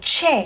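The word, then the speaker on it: tjè: How would this word be pronounced? TJE, so ch, right? So che. And che means heart.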